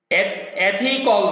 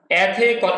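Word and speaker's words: ethical: তাহলে হি লার্ন সে শিখে, এথিক্যাল conduct, American pronunciation খেয়াল করুন, এথিক্যাল না এথিক্যাল, একটু একারের মতো উচ্চারণ হবে।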